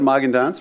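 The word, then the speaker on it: Magendanz: So I'm Magandans, rhymes with Haagen-Dazs.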